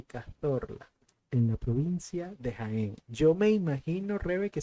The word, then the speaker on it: Jaén: en la provincia de Jaén. Yo me imagino, reve que se pronuncia Jaén y no Jaén.